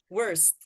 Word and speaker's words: worst: Worst. Words. The T sound. Don't forget the T sound at the end.